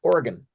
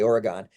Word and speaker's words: Oregon: Canadian it's actually pronounced Oregon Oregon oh yeah they'll correct you down there they know you're from out of state if you say Oregon there's no e on the end right so it's Oregon